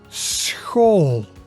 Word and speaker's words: school: So this is a combination of the S and the CH sound.